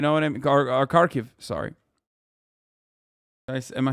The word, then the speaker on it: Kharkiv: Because then they would take over Kharkov. You know what I mean? Or Kharkiv, sorry.